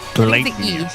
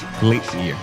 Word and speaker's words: Gleipnir: I see a lot of different pronunciations, but I it think it's seems like Gleipnir. Gleipnir.